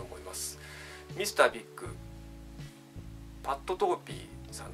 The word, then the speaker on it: Pat Torpey: ていきたいとおもいますミスタービックパットトーピーちゃんと名前の読み方ですパッ